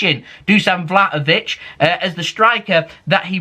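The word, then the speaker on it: Vlahović: January transfer window Ducan vladovic now I've been told I don't pronounce the ha so I'm going assume it's just take the ha out which is vlov vlov V vov is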